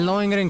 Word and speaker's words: Lohengrin: Yeah, in Lohengrin Castle. I actually heard him say it, so now I know how to say it.